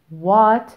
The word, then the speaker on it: what: What are they? What are they? What are they? وهنا هنستخدم أداة الاستفهام what يعني إيه. وخدوا بالكم لما بنكتب كلمة what بنكتبها W-H-A-T وهنا ال H silent ومش بننطقها.